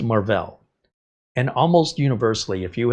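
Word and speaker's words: Marvell: more Enterprise business corporate stuff and they're called marll I know it looks like Marvel pronounced marll and almost universally if you have a 10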